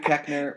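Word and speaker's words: Koechner: like the health class and they got David Kosher in there and kosher.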